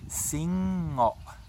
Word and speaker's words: singngo: So I want you to make sure you pronounce each and every single consonant, not glide it together, okay? So it's Singngo, not just Singngo.